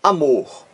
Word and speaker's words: amor: Na palavra amor, amor. Veja aqui, amor, duas sílabas. Qual é a sílaba aqui mais forte? Aquela que você pronuncia com mais força. É a última sílaba aqui, ó, a última. Amor, mor, você pronuncia com mais força. Então aqui, a palavra amor tem um acento tônico na última sílaba. Mor, amor, mais forte.